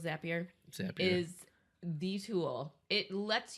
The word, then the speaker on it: Zapier: that is like a key for automation zippier yep you already know how to say it anyone who is looking to automate some simple things and even some more complex things you know zapier we're gonna go with zapier is these who'll it